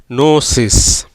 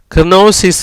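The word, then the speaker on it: gnosis: எப்படி வருது, நோசிஸ். எப்படி வருது, நோசிஸ். கினோசிஸ் இல்லைங்க, நோசிஸ். இப்படி ஜிக்கு அப்புறம் எண்ணு வந்தால் அந்த ஜிக்கு உச்சரிப்பு இல்லை.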